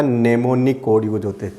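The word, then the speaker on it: mnemonic: नेमोनिक, am silent रहेगा, नेमोनिक code इसमें यूज होते थे।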